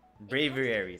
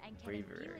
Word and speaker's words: Braviary: Braviary, that's how you pronounce it. Braviary.